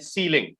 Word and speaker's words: sealing: have two other words which are ceiling and sealing the similar pronunciation c e i l i n g